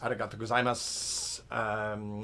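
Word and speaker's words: ありがとうございます: Yes, arigato gozaimasu. The U is silent.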